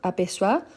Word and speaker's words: aperçoit: Donc, aperçoit, O plus I, il y a le son des wa. Donc, c'est pour ça qu'on écrit avec O plus I, mais on prononce wa.